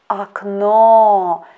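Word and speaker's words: окно: attention to this word this word has got two letter o and as i already told that in such variant we should pay attention to the stress in this word aknow second letter o is under the stress that's why first letter o we pronounce as ah our next letter for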